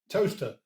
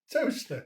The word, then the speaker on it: Towcester: Towcester. Toaster. Sorry. Toaster. I think you'll find that Toaster is spelled Toaster, and Towcester is spelled Towcester.